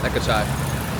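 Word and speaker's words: เอกชัย: He goes by Ton, T-O-N, it's his English name that he'll tell people, but if you guys his actual Thai name is pronounced Ekachai.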